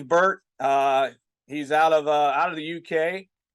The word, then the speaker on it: Burtt: I didn't want to say burnt or bunt but it's James Burtt.